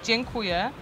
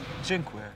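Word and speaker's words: dziękuję: you guys bless bless thank you in Polish is jenu and this one was kind of funny because Jimmy was saying it with an Asian accent but how you say it now jinqu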